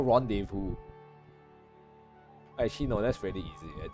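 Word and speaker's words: rendezvous: what's wrong with you it's pronounced rendevu and then now it's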